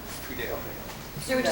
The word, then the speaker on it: Tweedale: There's an A in there, Dale. Yeah. Tweedale. Sir, would you spell your last name, please? My name is Tweedale.